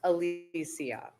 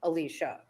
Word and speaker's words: Alicia: my name correctly and it's definitely not Alia it's Alicia so that was your